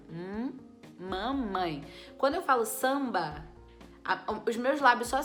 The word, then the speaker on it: samba: uma consoante normal tranquilo agora se eu disser por exemplo samba samba quando eu separo as sílabas eu tenho samba Então esse M ele tá vindo no final da sílaba você vê que até o jeito da gente falar é diferente quando eu vou falar mamãe eu junto meus lábios lá dentro da boca e solto ó M